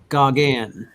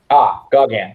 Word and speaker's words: Gauguin: Pronounced Gauguin. Gauguin.